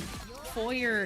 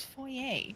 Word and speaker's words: foyer: And foyer is one of those. But then there's the part of my brain that actually understands French that goes, "No, it's foyer." Mhm. It's not an English word.